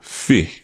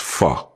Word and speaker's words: fi: We also touched on how we use the word fi to replace for, to, and should, and how sometimes it's pronounced fa when it ends a sentence.